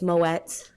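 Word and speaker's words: Moët: oh my God please they asked for Moe it's moets they asked for bube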